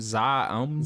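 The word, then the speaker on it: ZA/UM: How do we pronounce them? Zoom. Zoom.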